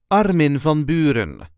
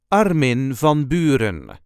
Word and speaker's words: Armin van Buuren: correct Dutch pronunciation is Arin vonin there is a slight emphasis on the first syllable of the first name and also on the first syllable of the last name Arin Von I hope